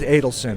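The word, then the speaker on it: Adelson: Don Schiff and Steve is it a tellson or addleson it is Adel sin okay I wasn't sure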